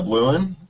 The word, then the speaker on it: Blouin: And my guest today is Blouin.